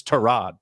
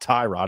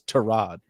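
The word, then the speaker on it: Tyrod: the other one uh it's torad it's not Ty Rod it's to Rod you know what I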